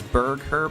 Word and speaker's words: Burgher: Also, it's Bergher, but it's spelled Burgher.